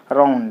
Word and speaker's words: around: u n d around here also there are two syllables are r o u n d round there are two syllables and you see the prefix a so you put the stress mark on the second syllable around it so you put the